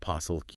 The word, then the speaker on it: POSSLQ: But okay, the most fascinating homegrown rule breaker from the source, hands down, has to be posslq. p o s s l q Pronounced posslq. Yeah, posslq.